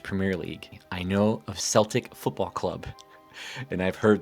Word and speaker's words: Celtic: now I should State I am pronouncing a Celtic because what I have read states that using the C Sound is what you use when you refer to the group of people now as someone who